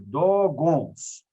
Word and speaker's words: Dogons: Escreve-se como eu pronuncio, Dogons.